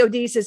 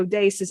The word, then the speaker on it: Odysseus: You guys say Odysseus, it's actually Odysseus.